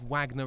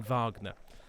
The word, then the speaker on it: Wagner: It is Wagner rather than Vagnner. Um they may be spelled the same, but I've been told the pronunciation is is Wagner for this one.